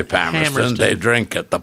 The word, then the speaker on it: Palmerston: if you're a local, you say Palmerston. Palmerston. They drink at the Palmer Hotel, but that's just now. I said since 1968, as though people are now all saying Palmerston because it's a little more sophisticated.